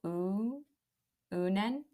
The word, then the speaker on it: Uinen: Well, it said use the UIN as in like ruin. So Unen.